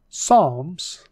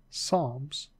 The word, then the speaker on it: Psalms: job not job job Psalms the P is silent Psalms proverbs Ecclesiastes the e